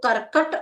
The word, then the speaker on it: कर्कट: माने कूड़ा तो वो करकट और एक करकट थोड़ा सा अंतर कहने में उच्चारण करने में है कर्कट ठीक है वो आधा का है हमारा तो कर्कट में